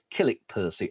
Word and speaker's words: Kilnwick Percy: but it's spelled kilnwick percy but it's locally pronounced kilik percy and that's a hall down there that can